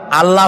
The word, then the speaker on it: আল্লাহ: অবশ্যই টেরান এটি আমাদের মনে রাখতে হবে তো আল্লাহ তাআলা তার উপরে আমাদের বিশ্বাস হচ্ছে এই যে